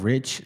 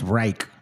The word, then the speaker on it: Reich: The last name is He calls himself Rich last name, but it's Reich, to be honest, cuz you spell it that way.